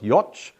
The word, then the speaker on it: Jocz: name right, but so I think it's got to rhyme with Scotch, so it's Jocz is the surname.